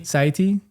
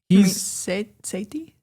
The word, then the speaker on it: Sethi: Ramit Sethi. Sethi? Yeah, You're adding an extra syllable in his name.